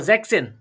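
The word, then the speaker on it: sechzehn: ও জ্যাকসেন, জ্যাকসেন, জ্যাকসেন।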